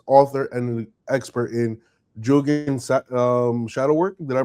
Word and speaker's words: Jungian: Melissa Kim Corter is a deaf psychologist, author, and an expert in Jungian shadow work. Did I pronounce that right?